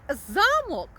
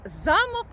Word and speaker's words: замок: значення слова тож слухаємо якщо ми кажемо замок то маємо на увазі що це будинок це може бути замок наприклад феодала А якщо ми скажемо замок то це ми маємо